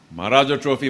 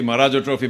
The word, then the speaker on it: Maharaja Trophy: I was told, because I got the name wrong, sort of, by accident. So I was rapped on the knuckle as I do in schools and said, Maharaja Trophy, Maharaja Trophy, Maharaja Trophy. Say it thrice.